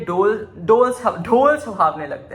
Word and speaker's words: ढोल: का fault because like लोग डोल बोलते हैं ढोल को अभी अच्छे से नहीं प्रोनाउंस करते सो आई एम टेकिंग